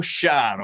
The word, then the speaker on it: Sharon: Allora, tu preferisci essere chiamata Sharon o Sharon? No, Sharon. Sharon.